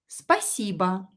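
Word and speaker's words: спасибо: will love accents so spiciba stress the correct letter and the one that is not stressed like oh here pronounced as a spaceba again or is not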